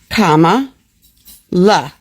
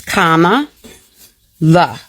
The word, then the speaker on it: Kamala: Kamala. I know it's difficult for you all because of your level of education. But if you say it slowly with me, we can get this. It's Kamala.